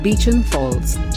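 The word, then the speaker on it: Beauchamp Falls: mobility and fitness also in typical Aussie butchering of language these are actually pronounced Beacham Falls the otways Californian Redwood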